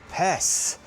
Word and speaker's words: Užupis: So that was the mermaid of Pes. I'll pronounce it correctly this time.